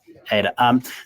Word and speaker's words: Ada: Did I pronounce that company name right, Jonathan? Perfectly, yeah. Ada.